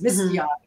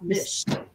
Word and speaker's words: Macchiato: It's Macchiato, not Mish.